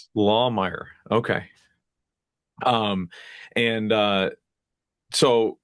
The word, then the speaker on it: Lahmeyer: guest today is Layer. Am I pronouncing that right? Close. It's Lawmire. It's a good German last name. Lmer. Okay. Lawmire.